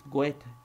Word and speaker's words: Goethe: It's not even Goethe, it's Goethe.